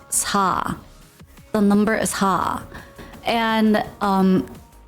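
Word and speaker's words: 사: Cause I think this is my assumption, but I think it's because 4 in Korean you pronounce it as sa.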